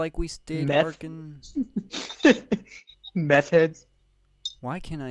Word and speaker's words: Arkansas: I know that's how you're supposed to spell it, but it doesn't look like it's spelled right. I hate. It's Arkansas.